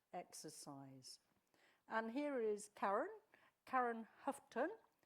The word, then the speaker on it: Houghton: And here is Karen Houghton. That may not be the way to pronounce it. Okay, I accept all ways. What's the right way, Karen? Houghton. Houghton.